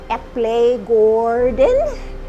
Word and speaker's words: Eplegaarden: it ep legoordent and that's pronounced epley gordon and it means the apple farm in norwegian so it was a great name because people could say the apple farm or they could say epley gordon either way it actually